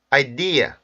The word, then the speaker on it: idea: 단어를 봤는데 2개만 명심하세요 강세가 첫 번째 있지 않다 라는거 그리고 음절 끝에 있는 슈와 에서 r 발음을 벗지 않는 것 이 부분 주의하시면